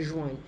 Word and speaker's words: joignent: Be careful, the E-N-T is not pronounced.